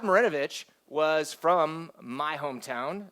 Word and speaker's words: Marinovich: Pete Maravich um Todd morenovich I'm sorry I'm saying it wrong Todd morenovich um Todd marinovich was from my hometown